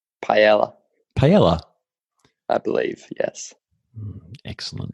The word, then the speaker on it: paella: it paella is it pie AR has it's pronounced paella paella I believe yes excellent not my strong